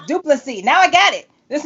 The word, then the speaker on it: Du Plessis: Du Plessis. It's not Du Plessis with the S on the end. No, the S is silent. Okay. So, that's all you had to say. Du Plessis.